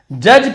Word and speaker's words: judge: said Chanakya ने कहा जज पीपल जज डी को नहीं पढ़ेंगे साइलेंट होता है बाय देयर देयर एक्शनंस